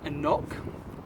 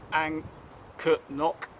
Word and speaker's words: anCnoc: year old it's a Highland single malt it's pronounced and knock not hanker knock the see is actually silent so I don't